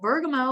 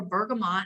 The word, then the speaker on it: bergamot: better night's sleep bergamo so bergamo or bergamot however you want to pronounce that this is a really